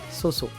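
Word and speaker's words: SOU・SOU: Alors, ça s'écrit Susu, mais c'est Soso. Soso.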